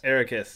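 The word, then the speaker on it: Eraqus: Ericus, yes, thank you.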